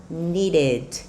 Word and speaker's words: needed: A pronúncia vai ficar needed. Perceberam como a pronúncia do E e do D ele parece completinho do jeitinho que é escrito?